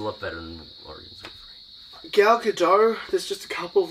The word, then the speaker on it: Gal Gadot: her saying her own name, confirming how it's pronounced. And it's just like, Gal Gadot. Gal Gadot, she can speak English.